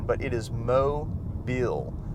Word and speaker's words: Mobile: from they always mispronounce it and they'll say mobile or some other strange pronunciation but it is mo bill mobile say it with me mobile so mobile is